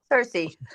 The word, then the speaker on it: Cersei: I like I like the way you pronounce Cersa as well. I thought that was that's probably very misconception. Yeah, it's Cersei.